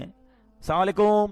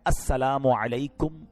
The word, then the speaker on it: السلام علیکم: ہاں سلام کی تلفظ ہی ٹھیک نہیں ہے. السلام علیکم, السلام علیکم, یہ سلام نہیں ہے, بلکہ بعض اوقات تو اس کے میننگ ہی آؤٹ ہو جاتے ہیں. سلام کیا ہے؟ السلام علیکم ورحمۃ اللہ وبرکاتہ.